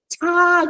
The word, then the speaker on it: 他: Go back and do aspiration. You've forgotten what aspiration is. All the T's are THs. Yeah. So, ta 跟 ta.